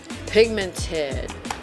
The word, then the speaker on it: pigmented: pigmented by the way it's pigmented not pigmented English pronunciation with mrs. F 101 because so many beauty gurus say it's pigmented it's a pigment not a pigment so it's pigmented and we are going